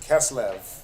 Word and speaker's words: Kislev: Kislev.